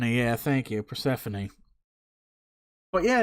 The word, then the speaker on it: Persephone: name Persephone yeah thank you Persephone but yeah it's like hard is that just take out Stephanie and put the purr in front of her Symphony